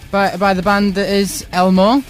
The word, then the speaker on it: L-Mo: Studio now by the band that is Elmo. Is that how you pronounce it? Yeah. As in the Sesame Street character.